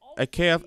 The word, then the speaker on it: Экев: экране ан койт и как это всё произносится кев это акев - это часть торы